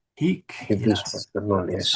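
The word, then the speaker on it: hīc: Quintus, pater non Hic. hic. Quintus Yes. pater non est. Not here. Yes. And please put a long I in there. Hic, not hic.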